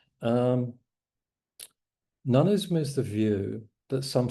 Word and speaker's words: noneism: It's like the English word none as in uh I'll have none of it and you just stick ism on the end. Okay, so it's noneism. Um noneism is the view that some things don't exist.